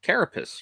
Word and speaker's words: Carapace: uh Crimson Dynamo but I think it's carapace right uh yeah that's how you say it perfect Terror packs the carapace oh yeah I mean